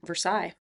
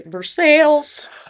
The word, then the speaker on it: Versailles: I'm surprised you knew how to say Versailles. I'm surprised you didn't say Versales. Uh I think in in Missouri we do pronounce it Versailles.